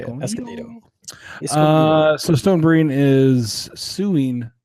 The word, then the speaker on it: Escondido: Encendido? Sure, we'll go with that. How do you pronounce it? He won't see us. That's it's Escondido. That's how you say it. Escondido.